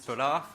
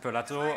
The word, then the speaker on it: Pelat: In French, it's Pelat. When I arrived in Japan for an internship, my manager asked me how to pronounce it. There's this silent T that French puts everywhere. He suggested Pelato.